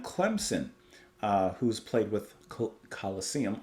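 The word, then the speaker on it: Colosseum: uh who's played with Coliseum I almost said colosium that is not how you pronounce them uh and Humble Pie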